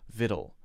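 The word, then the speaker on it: victual: the difference seems little we say actual but vittle vittle vittle that is actually pronounced vittle sweet sweat chaste cast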